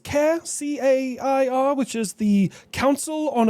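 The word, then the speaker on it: CAIR: Previously Texas and now Florida have labeled uh I believe it's pronounced K a R, which is the Council on American Islamic Relations.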